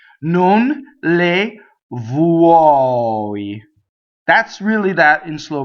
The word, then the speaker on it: vuoi: Non le vuoi. That's really that in slow motion. So when you sing, it's vuoi, vuoi. It's not vuoi. It doesn't rhyme with boy, right?